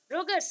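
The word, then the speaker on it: Rodgers: चलो, चलो नेक्स्ट देखो, ये प्रोनाउंसिएशन आपको पता चला, ये रोडगर नहीं है, रोगर्स है, या रोजर बोल सकते हो, रोजर और रोडगर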